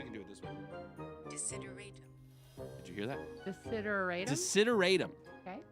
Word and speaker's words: desideratum: Desideratum.